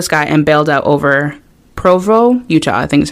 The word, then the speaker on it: Provo: back to the sky and bailed out over Provo Utah I think that's how you pronounce that it's p-r-o-b-o awesome leaving behind his